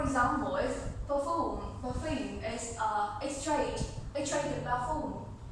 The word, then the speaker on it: parfum: Parfum. It's pronounced differently.